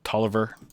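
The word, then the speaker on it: Taliaferro: throughout the civil war william b talifero i think sometimes that's pronounced toliver ninth infantry not as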